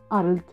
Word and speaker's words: Arlt: un apuro al pedagogo le dictaba al cargando la voz en la l y mi apellido una